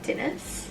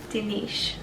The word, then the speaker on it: Dinis: So her name is Nalu Awana Dinis. No. Say it properly. Nalu Awana Dinish.